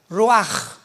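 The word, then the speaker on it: רוח: Apunta la palabra espíritu en el hebreo es como suena roach, rúl u a c. Pero la ch en el hebreo se pronuncia como j. Roaj es la palabra para espíritu en hebreo.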